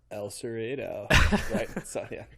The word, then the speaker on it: El Cerrito: based out of San Francisco um so that's pronounced El Cerrito yeah uh the kicked out Ron mcgoverny citing